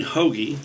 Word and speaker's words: Hauge: well my name is hogy like the bread I answer to everything